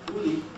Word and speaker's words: uli: The word for rubber, for example, in Spanish, if you know that, ule comes from the Nahuatl word uli, which is sometimes uttered as oli. Oli, uli.